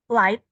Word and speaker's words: light: kue ulang tahun Oke how pronounce it light ya light ya Jadi bukan like bukan like bukan like tapi like kayak tadi ghnya gak dibaca oke is more expensive